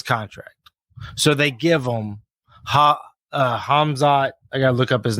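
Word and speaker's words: Khamzat: Kazamet or something like that. Yeah, it's Hazma. I just had it. Kamzamet. Yeah, he's a beast. Though. No, you pronounce it Hamzat.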